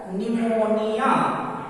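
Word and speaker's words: pneumonia: उसी तरह से पी एन ई यू एम ओ एन आई ए, यहाँ पी एन कॉम्बिनेशन है, पी इस वर्ड के बिगिनिंग में है इसलिए पी साइलेंट होगा, इसका सही प्रोनाउंसिएशन हो जाएगा निमोनिया।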